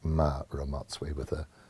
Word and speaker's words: Mma: ma where the M the MM accentuates the M sound but it's quite difficult to get that in English and so most people